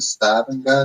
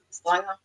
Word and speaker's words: Stavanger: And since I've been here, I've staying with Eileen and staying in, how do you pronounce it? Stavanger? No? Stavanger.